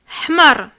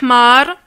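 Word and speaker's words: حمر: Il ne faut pas prolonger le A. Parce que si tu dis hmar, là, c'est une insulte, ça veut dire l'âne.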